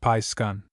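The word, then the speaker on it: Piskun: Pronounced Pi Skun.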